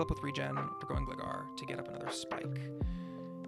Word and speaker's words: Gligar: Gligar? That's not how you pronounce it. Gligar, and we get Spike number 3.